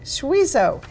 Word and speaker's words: Schwiesow: Schwiesow is one of the featured artists this year.